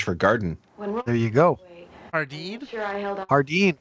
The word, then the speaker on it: jardín: It's a J, but it's pronounced with the H sound. It's like sardine, but with an H.